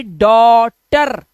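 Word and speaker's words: daughter: ऐसे ही डॉटर, TER हो गया टर, और ये हो गया डॉ।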